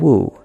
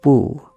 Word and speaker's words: 惡: They take this character and wu to have two distinct pronunciations and two distinct meanings, hate in 4.3 and bad intentions in 4.4.